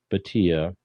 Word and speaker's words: Bhatia: India friends, Nav Bhatia, Bhatia. I was trying to find the correct pronunciation, so I hope I'm close.